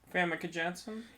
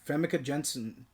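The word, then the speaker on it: Famke Janssen: Famke Jenssen. Yeah, Famke Jenssen.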